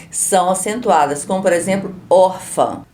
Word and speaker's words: órfã: acentuadas, como por exemplo, órfã. A palavra órfã tem 2 acentos, mas qual sílaba é mais forte? Órfã. Qual eu falei com mais força? Órfã, se for chamar alguém, é o or, é a sílaba mais